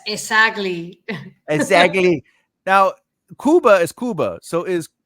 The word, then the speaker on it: Cuba: know because you because if you say Cuba am I correct in saying that's the mispronunciation it's supposed to be Kuba it's it is supposed to be Kuba it's Kuba right so does that mean